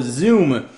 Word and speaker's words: Xoom: of course it is the Motorola Zoom spelled with an X don't confuse that with a z the way you'd expect to spell it uh let's go ahead